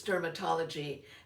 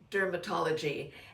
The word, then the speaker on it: DRMTLGY: This is, I guess it's dermatology, but it's spelled DRMTLGY.